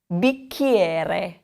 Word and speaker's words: bicchiere: The next one, if you remember that CH combination, okay? Bicchiere.